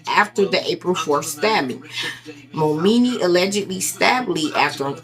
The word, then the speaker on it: Momeni: That's how you pronounce his last name. Momeni.